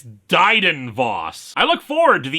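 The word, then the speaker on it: Dryden Voss: Anyway, the yacht arrives according to this caption, I've gotten his name wrong the whole time. It's Dyden Voss.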